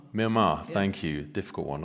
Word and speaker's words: Myanmar: And you were speaking specifically about, I'm going to get the name wrong, Myanmar, Yeah.